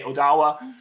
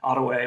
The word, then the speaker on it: Ottawa: Canada or even Michigan they'll say Odawa and so there's a variety of different pronunciations of uh the tribal name but historically again Ottawa was how um tribal members said it fantastic I'm going